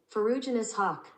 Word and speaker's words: Ferruginous hawk: Okay, this is how you pronounce it. Ferruginous hawk.